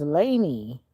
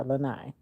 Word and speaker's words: Lanai: Oh, your name is Laney. Alani. No. Lanai. Is that Lanai? Yeah, Lanai. I was saying your name wrong, I guess.